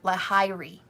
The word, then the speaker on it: Lahiri: it's ayanamsha um and lahiri is said like lahar lahiri lahiri so if it's hard